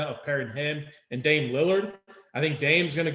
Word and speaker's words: Lillard: there side by side with with uh dame dalla dame whatever yeah actually yeah sorry for i hey sorry to the lard family for the mispronunciation dame lillard i'm sorry i i've been i i've played